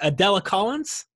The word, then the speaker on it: Adela Collins: Collins is his spouse, and correct me if I'm pronouncing this correct, Adela Collins?